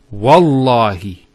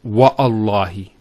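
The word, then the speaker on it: والله: it, and we say, Wallahi. This waw here is actually known as waw al-qasm, the waw of swearing an oath. So when we put this waw, it's Wallahi, not Wa'allahi.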